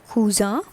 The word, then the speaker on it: cousin: For the male cousin, you will use le cousin. That is same in English, but the pronunciation is cousin.